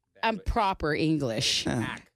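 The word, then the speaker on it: Anderson .Paak: Paak, not Paak. Okay, Anderson Paak.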